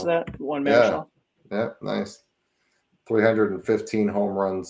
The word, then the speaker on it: Marichal: However you pronounce that? Marichal.